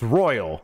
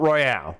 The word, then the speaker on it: Royal: I don't think Turbo Sean would say that, because it's actually pronounced Royal, not Royale.